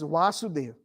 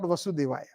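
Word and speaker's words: Vāsudeva: janak's daughter is janaki so vasudev's son is vasudeva so we have to be very careful sometimes when we pronounce especially when we know so um uh not vasudevaya so vasudeva means vasudeva and vasudeva means SRI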